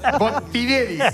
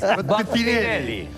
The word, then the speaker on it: Botinelli: Pero me pronuncias mal. Botinelli. Botinelli.